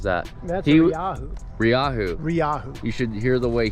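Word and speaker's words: Rieju: Ryahu. You should hear the way he calls it. How does he pronounce it? It's not a Reju.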